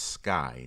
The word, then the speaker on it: SCCY: Next, I want to talk about a firearm manufacturer pronounced Sky.